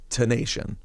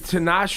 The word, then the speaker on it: Tinashe: nation, regular nation, T-I regular nation, but it's pronounced Tinashe. And why are you going that way? Because it's easier. It's just easier. It makes sense. Yeah, but Tinashe.